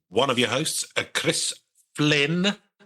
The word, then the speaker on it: Flynn: I am one of your hosts, Chris Flynn.